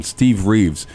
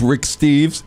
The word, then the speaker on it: Rick Steves: I always get his name wrong. I always call him Steve Reeves. He's so far from Steve Reeves. It's pathetic. His name is Rick Steves.